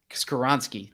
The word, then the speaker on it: Skoronski: Peter skorinsky uh is did I pronounce it correctly is this karinsky you tell me I think it's karonski skaronski thank you uh great story by